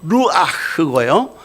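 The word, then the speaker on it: רוח: 구약 성경에 히브리 구약 성경은요 히브리어로 생 생 생 생 생기 혹은 성령을 하나님의 영을 루아라고 했어요. 제가 발음이 좀 그렇긴 한데요. 구약 성경은 히브리어로 루아흐고요.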